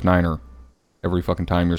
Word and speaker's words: nine: 5 is fife, F-I-F-E, and 9 is niner.